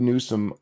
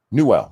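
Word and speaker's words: Newell: I don't think that Gabe Newsome or is that how you say his name? Newwell.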